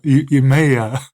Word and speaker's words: Emeya: Is it Emeya? There's no R? Yeah, not the Emira, Emeya. I think that's how it's pronounced.